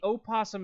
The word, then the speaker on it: opossum: possum you don't the the opossum is the o is silent and so is the